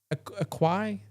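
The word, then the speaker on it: Açaí: How do you pronounce AQ? Aquafina? No, Acai.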